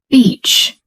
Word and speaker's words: beach: But if you say it wrong, it sounds like a very bad word. So, let's practice this carefully. Repeat after me. Beach. Beach. Beach. Notice how we make the long e sound.